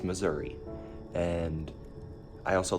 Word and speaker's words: Missouri: but also, people in Missouri have no collective pronunciation on it. Some people will call it Missouri, which I hate. It's Missouri.